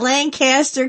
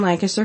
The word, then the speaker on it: Lancaster: Not Lancaster California we're Lancaster PA and let me just